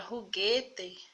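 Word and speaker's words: juguete: uma questão especial né a letra j é pronunciada como se fosse a rr do nosso português eu citei aqui o exemplo da palavra ruguete a palavra brinquedo em português espanhol ruguete a própria pronúncia da letra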